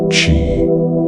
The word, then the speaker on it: qi: The underlying idea was to balance qi, pronounced qi, believed to be life energy flowing through the body.